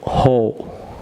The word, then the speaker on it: who: আমার সাথে বলুন হো, হো, হো, হোম, হোজ, হোল। আবার বলুন ভিউয়ার্স এটি এক্সেপশন, এটি উচ্চারণ হো উচ্চারিত হবে, হো, হোম, হোজ, হোল।